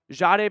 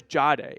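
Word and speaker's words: Jahdae: Which, by the way, I don't know if you know this, he has changed the pronunciation of his name. So it was Jade in college and and now it's like a ja.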